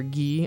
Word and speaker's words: Guy: clothes and G uh guy or ghee I'm going to pronounce it guy um has an ax and leather I know like some of sometimes it's pronounced ghee and sometimes it's pronounced guy I I'm just going